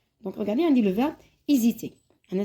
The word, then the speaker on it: hésiter: Donc regardez عندي le verbe hésiter. أنا c'est un H muet. Le H اللي ما يتنطقش كشغل عندي voyelle.